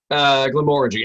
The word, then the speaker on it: Glenmorangie: But yeah, technically, Glenmorangie, emphasis on the second syllable.